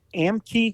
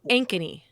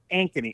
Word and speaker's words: Ankeny: Yeah, well, is it Amkey? Is that how you say the name of the town? I think that's how you say it. But it was one of the more Ankeny. Ankeny.